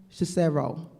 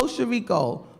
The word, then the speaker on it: Chirico: But I did say his name earlier, Joe Cicero. Joe Chirico. I keep calling him Cicero. Why? I know why, because Carlo is not here. I miss Carlo, that's why. Joe Chirico, who is like the epitome of the Italian restaurant owner.